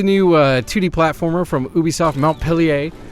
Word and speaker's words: Montpellier: So this is the new 2D platformer from Ubisoft Montpellier, I believe is how they pronounce it in France land.